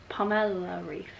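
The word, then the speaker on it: Pamela Reif: ab workout the name palmer palmer no pamela ryf that's how you say her name it's really good for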